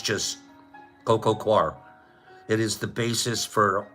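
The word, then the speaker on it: coir: of mushrooms we grow it's spelled Co then there's a space and then it's quar c i r so that's um the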